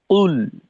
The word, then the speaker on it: قل: আর পেশের উচ্চারণের ক্ষেত্রে ঠোঁটের যে গোল করার কথা, তো এক্ষেত্রে কিন্তু আমাদের কোনো কমতি থাকবে না। কুল যদি এখানে বিন্দু মাত্র ঘাটতি দেখা দেয়, তাহলে পেশের উচ্চারণটা কিছুটা ওকার মুখী হয়ে যায়। কো, কো ধরনের না, কু, একেবারে কু।